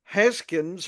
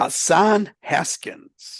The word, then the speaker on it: Hassan Haskins: to drop Ray Davis to get Videl or Heskins or Hessen or whatever. What's his name? I can't Hassan Haskins.